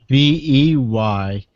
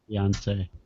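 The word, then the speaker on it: Beyoncé: No, it's Beyonce. Ondsay. That's Beyonce, Yeah, that's how you spell it. because you can't say it properly. It's beyond say. Beyonce. Beyonce.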